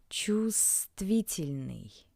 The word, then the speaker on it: Чувствительный: Please note that the bold letter V is not pronounced. Чувствительный.